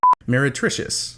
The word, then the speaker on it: meretricious: you get more themes meretricious okay mary sounds like merry christmas meretricious lacrimos anui how do